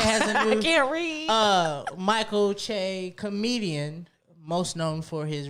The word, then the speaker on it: Che: right i just i'm can you say it one more time michael che michael che i don't know why i want to say chi i don't know michael